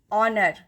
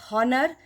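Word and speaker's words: honour: ही is dash ऑनर the sound ऑफ एच इज ह and this ह sound is नॉट a Wavell sound but we pronounce it नॉट एज हनर बट एज ऑनर the Wavell sound ऑफ ओ इज ऑ that is व्हाई वी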